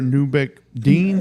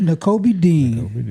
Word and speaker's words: Nakobe Dean: I ain't gonna try and pronounce that. Quiddy Pay. Yep. And then linebacker Newbeck Dean. Nakobe Dean.